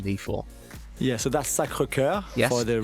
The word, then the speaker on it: Sacré-Cœur: Yeah, so that's Sacré-Cœur for the real correct.